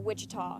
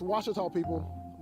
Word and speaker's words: Ouachita: Back in Texas, everybody pronounces it Wichita, but really, it's Washita. Washita. Washita. How would you pronounce it? Washita. Washita. It's Washita Baptist University. Get it right. It's Washita, people.